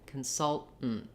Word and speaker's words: consultant: T's, and then that just sounds like you're stopping the air, doing a very short N, and stopping the air again. Consultant, consultant. This is the same pattern we have in the word important, where I can say important or important. And I will refer you to my video for that pattern with T-A-N-T words, where we use the kind of unusual pronunciation of our T sounds.